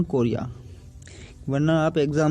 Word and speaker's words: chorea: मैंने कभी स्पेलिंग भी ढंग से नहीं पढ़ी, तो आप इसको कोलेरा मत पढ़ना, इसको पढ़ना हंटिंगटन कोरिया, वरना आप एग्जाम में भी हंटिंगटन कोलेरा ही लिख के आ जाओगे।